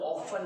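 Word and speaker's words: often: OFTN बोलने वाले जोर से बोले तभी मुझे एक्चुअली हमारे टाइम में बोलते थे टी साइलेंट है, जिसका हम लोग बोलते थे ऑफन बोलते हैं।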